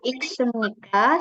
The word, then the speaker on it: 읽습니까: nuga iksemnika, siapa yang membaca. Nah, ini bacanya iksem. Jadi iksemnika.